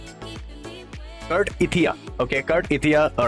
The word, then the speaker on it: Cartethyia: Kurt Ethia. Okay, Kurt Ethia. All right. Okay. Kurt Eitha. That's how I That's how you should pronounce.